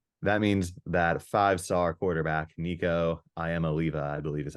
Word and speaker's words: Nico Iamaleava: Anyways, that means that 5-star quarterback, Nico Iamaleava, I believe is how you pronounce his name, will be under center.